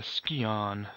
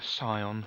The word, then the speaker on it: Scion: led by and that piece of the ski on or the Scion as I like to call it I looked it up in the dictionary that's how it tells me to pronounce it right okay I got my